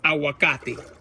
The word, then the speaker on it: aguacate: a Spanish word, and I hate it when I mispronounce it. You know, like I say like if I'm a gringo. It's aguacate. This is my aguacate tree.